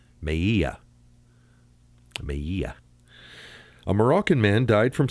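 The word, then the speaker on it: Melilla: going to say that the L's are pronounced with a Y sound. Maya Maya a Moroccan man died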